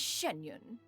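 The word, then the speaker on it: Xianyun: From this point on, when in public occasions, be sure to refer to one as Shenyun. Canyon? That's how you pronounce it.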